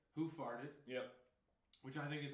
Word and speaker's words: Hoof: All right, this is Hoof Brewing, and I believe they want us to pronounce it Hoof.